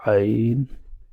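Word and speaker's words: عين: You need to pronounce this letter from the bottom of your throat. Ain, Ain, Ghain.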